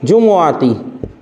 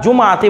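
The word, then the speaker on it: جمعة: যেমন দেখেন একটা প্রসিদ্ধ উদাহরণ খেয়াল করেন, সুমতু ইয়াউমাল জুমুআতি, সুমতু ইয়াউমাল, এটা জুমআতি বলিয়েন না, শুদ্ধ উচ্চারণ হচ্ছে কিন্তু জুমুআতি, মিমের উপর পেশ দিয়ে।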